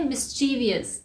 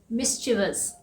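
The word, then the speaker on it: mischievous: मिस्चीवस, इसे हम बोलते हैं मिस्चीवियस। इसका मतलब होता है शरारती या नॉटी। इसका सही प्रोनाउंसिएशन है मिस्चीवस।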